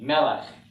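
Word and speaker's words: מלך: funny schwa in the but melech has two segals in a row and the accent as we've learned is on the first syllable repeat after me mella okay so of these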